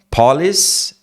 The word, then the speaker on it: police: Police é outra coisa. Policy, né? Seria política, né? No sentido de a política da empresa. Aqui, police. Tem um p, tem um ar que sai, né?